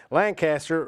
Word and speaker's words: Lancaster: drug humor in here Lancaster rhymes with manaster guy Lancaster everybody give